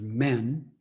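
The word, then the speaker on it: 面: Also, this term, face giving, that word, that Chinese character for face, which the Japanese pronunciation is men, it not only means face, it also means mask.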